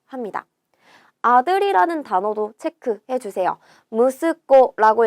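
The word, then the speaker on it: 息子: 무스코라고 읽고요. 얘는요. 무스 좀 특별하게 읽는 애예요. 그래서 꼭 기억을 해 주셔야 됩니다.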